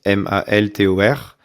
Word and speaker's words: Maltor: mon nom c'est Maltor, comme ça se prononce, Maltor.